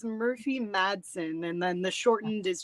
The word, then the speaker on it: Murphy Madsen: It's Murphy Madsen, and then the shortened is just Murph.